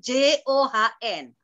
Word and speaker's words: John: Kalau John itu John, tapi kalau Jones bacanya Jones.